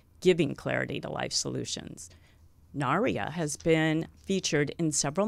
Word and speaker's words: Narea: It's Narea. Narea. Like Narea. People like Maria Narea. People have to get used to it. I have to put the accent on the right place.